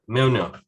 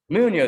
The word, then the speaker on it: Mjolnir: It's a hard one that we still don't know how to pronounce that, which is Mjolnir. Mjolnir, that's it. Mjolnir.